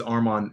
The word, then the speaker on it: Arman: My name is Arman Alex. Uh, you pronounce my name like my arm is on.